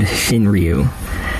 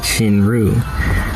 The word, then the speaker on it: Shinryu: And yes, I said Shinryu, since that's how you correctly pronounce my name, but there's no problem with the way you guys been pronouncing it for over 2 years now.